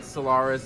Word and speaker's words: Solaris: That's how you pronounce my name, Solaris.